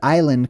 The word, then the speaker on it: island: is where the word Island comes from that's why it's spelled with an S if you ever wondered why island has a silent s on it it's because originally